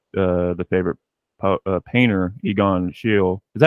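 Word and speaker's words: Schiele: the favorite painter Egon Shield is that how do you say his name am I saying it wrong I think she'll or Sheila it depends okay are you talking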